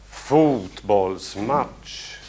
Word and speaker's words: fotbollsmatch: Längre O i fot. Fotbollsmatch.